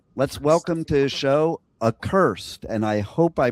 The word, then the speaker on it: Accursed: So, let's welcome to the show Aursed. And I hope I pronounced that properly because if I it up and I'm then I'm an idiot.